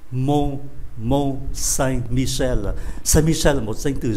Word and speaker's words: Mont Saint-Michel: Chúng ta đọc là âm mũi. Mont Saint-Michel.